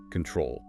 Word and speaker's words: control: But look at the word control. Mm-hmm. We stress the back, control.